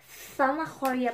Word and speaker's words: zanahoria: Kasi dapat mag-pronounce ng zeta dito, ng z is zata. Ganyan.